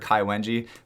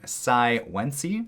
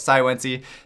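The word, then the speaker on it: Cai Wenji: And her name is, apparently I was corrected on my previous video, I called her Sai Wenji, but she is apparently named Sai Wenji. So apologize for the mispronunciation, but Sai Wenji, number 3 on the list here.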